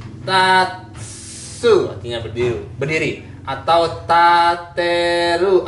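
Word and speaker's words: 立: Oke, bacanya tatsu artinya berdiri, berdiri. Atau tateru artinya mendirikan. Atau ritsu juga berdiri.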